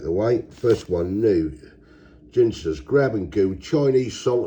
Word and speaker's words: Ginsters: They are the Ginsters, or Ginsters, however you want to say it. I call it Ginsters. As I always said, at the end of the day, if you buy a bottle of gin, it's spelled G-I-N. You don't say give us a bottle of gin, do you? Well, that's my theory anyway.